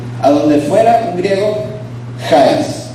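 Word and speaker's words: χάρις: Se pronuncia charis o charis. ¿Cómo la pronunciación? Es como local. Charis. Ese es el griego y significa gracia. Ese era el saludo típico griego. A donde fuera un griego, charis.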